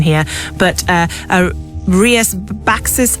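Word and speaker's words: Rías Baixas: pronunciation here, but uh Rias Baxis Alberinho from uh Galysia. Yeah, I mean Rias Bashas is Yeah, but basically it's near enough.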